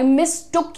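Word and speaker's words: mistook: अरे आई मिसअंडरस्टूड आई मिसटुक यू फॉर my brother तो इसका प्रोनंसिएशन क्या है मिसटुक मि स्टुक मिक तो अब आपको इसे भी यूज करना है है ना मिस्टू नहीं बोलना है इसको किसी को हमने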